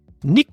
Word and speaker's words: Nico: us with this one nik rosberg nik rosberg not just Niko rosberg uh Maui Rose Lou